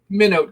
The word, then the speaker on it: Minot: I'm good at pronouncing things. Of course, it's Minot.